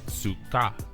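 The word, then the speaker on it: סוכה: be written out as phonetically pronounced as Suka this Hebrew term translates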